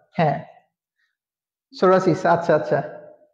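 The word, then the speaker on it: psoriasis: আর কি ঠিক আছে পি এন পিএস এগুলো থাকলে পি এর উচ্চারণটা আসে না তো বা সিরাসিস ঠিক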